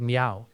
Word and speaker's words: Meow: It's spelled MEOW, like the sound a cat makes.